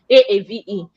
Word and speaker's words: Aave: a a v e some people will say it's I've I don't know how people pronounce but it's actually a spirit pronunciation a-aave then there is a